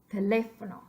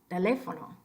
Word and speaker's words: teléfono: So when you see a word like teléfono, it's really, really tempting for English speakers to say teléfono, telefono. Well, it's not right, but you could see where a person would get it.